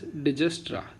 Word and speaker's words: Dijkstra: Okay, it is pronounced as Dijkstra. K is silent here.